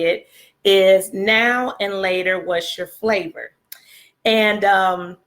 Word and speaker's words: Now and Later: Well, we call them now laters, but I Googled it this morning to make sure I was saying it right, because I'm used to saying now later, but it's really now and later.